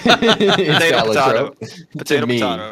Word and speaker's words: Balatro: I believe I believe it's actually pronounced Balatro. I believe like that is the official, like that's what the creator says is the thing.